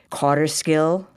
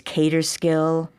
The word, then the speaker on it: Kaaterskill: Then it's carter skill with k a u t e r. There's cater skill. You'll hear all kinds of different pronunciations. There are some who are absolutely set that it's carter skill. There are those who've always said cater skill or caterkill and that goes back to the Dutch.